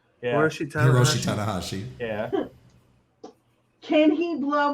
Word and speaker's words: Hiroshi Tanahashi: Harry Yoshi Tamagotchi. Yeah. Hiroshi Hiroshi Tanahashi.